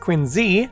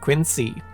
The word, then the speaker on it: Quincy: president, John Quincy Adams, is supposed to be pronounced Quincy, not Quincy.